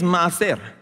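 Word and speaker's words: מעשר: And the word tithe here in Hebrew, here's where the Hebrew comes in, all right, means maaser. Say maaser. You still have the British accent. You know, maaser is spelled, by the way, the Hebrew is read from right to left.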